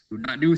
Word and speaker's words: nu: freedom new revenue side ID but it's actually pronounced new so I can use my keyboard here so